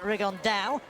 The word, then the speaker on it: Rigondeaux: And Tete's talked about fighting Rigondeaux, or as he's correctly pronounced with the Spanish accent, Rigondeaux.